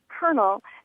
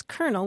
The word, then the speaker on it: colonel: termain and they asked why we pronounce the word Colonel as if it had an r in it and um calling you